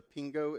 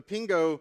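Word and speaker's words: Pengő: 1946 around the currency I think it's the Pingo is how you say it the Pingo experienced a period of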